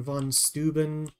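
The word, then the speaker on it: von Steuben: old American in in in English uh V's are not FS but in German V's are FS so definitely understand that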